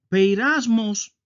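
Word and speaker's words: πειρασμός: Así se escribe en griego y así se pronuncia. Peirasmos es el sustantivo y peirasó es el verbo.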